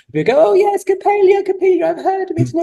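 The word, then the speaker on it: Coppélia: as theater performers you know yes and then capilia if that's how I pronounce it is that right yeah Capia capilia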